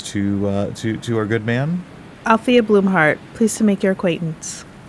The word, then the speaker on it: Bloomheart: Althea Bloomheart, pleased to make your acquaintance. Says, thank you, Althea. And that's Bloomheart like a plant blooms, and then heart like an organ, right?